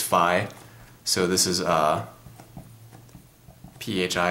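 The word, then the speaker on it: φ: so this is a pH I it's pronounced Phi not really fils um people like to say fee but it's technically pronounced Phi so anyway 305 is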